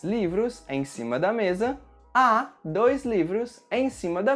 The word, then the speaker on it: há: So, in Portuguese, we can say "há" using the verb "haver" and "tem" using the verb "ter." Remember that with the verb "haver," the letter H at the beginning of words is not pronounced.